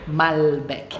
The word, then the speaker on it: Malbec: preferência um bom Malbec Malbec é assim que a gente se preocupa gente pronuncio L aqui tá essa história de falar l com som de u é um vídeo de linguagem desse panela em português né uelen em português normalmente e o pronunciado com u com o Brasil por exemplo e aqui não welerson DL mesmo então Malbec aqui a gente vai falar mas Beck bom eu comecei dizendo